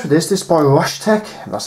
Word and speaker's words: RSHTECH: This is by RSHTECH, that's how you pronounce it, which is RSHTECH.